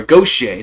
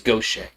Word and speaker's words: Gautier: Or gocha. The goch. I think it's gocha. I think I think they pronounce it go over there.